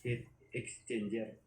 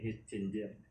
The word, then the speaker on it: heat exchanger: Doon sa mga kukomment pala mga solid, doon sa bangkang pamiwasan na videoan ko, ang tamang kung talaga nito, bigkas ay heat exchanger, hindi heat changer.